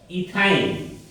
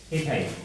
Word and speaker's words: ইথাইন: উচ্চারণ করতে হবে এই আইন উচ্চারণ করতে গিয়ে আমাদের উচ্চারণ গুণ হবে এখানে তাহলে ইথাইন ইথাইন ইথাইন অনুরূপভাবে এন এর মান